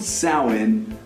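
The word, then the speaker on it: Samhain: to the Celtic tradition of south which is pronounced salhan likely because the Celts either thought it best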